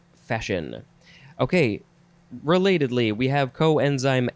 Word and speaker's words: coenzyme: want to pronounce it senzyme, or senzyme, but it says it is pronounced coenzyme. Coenzyme. So, yeah, the spelling is similar at the beginning, but it is the word co plus enzyme.